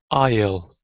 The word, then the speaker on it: aisle: S is not pronounced before L in the following words. Island, aisle.